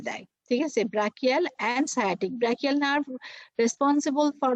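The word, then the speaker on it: sciatic: ওটা অনেকে কিন্তু উচ্চারণ করে স্চিয়াটিক নার্ভ, হ্যাঁ। তো এই যে সায়াটিক নার্ভ যেটা, সেটা কিন্তু লেগে থাকে, এবং যেটা তোমার ব্রাকিয়াল নার্ভ সেটা কিন্তু উইং এ থাকে।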